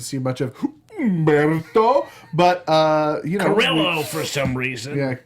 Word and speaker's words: Carrillo: So we didn't get to see much of Humberto, but Carrillo for some reason. Yeah, not Carrillo as it would be pronounced, but apparently Carrillo.